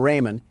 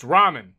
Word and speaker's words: ramen: Door Dash is on its way to deliver some Raymond, and I don't want to spill any around the pyramid floors. Uh, it's pronounced ramen.